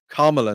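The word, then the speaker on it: Kamala: on Joe Biden and I start to call on Camala Harris or whatever however you pronounce her name because I think you have to call her kamla now at this stage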